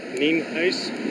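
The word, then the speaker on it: Nienhuis: again my name is Hernando County Sheriff Al Neen ice spelled n-i-e-n-h-u-i-s and it's pronounced uh we're here out at cheever Road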